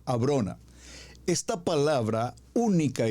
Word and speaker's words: Abrona: Abrona. Atención con la pronunciación, Abrona.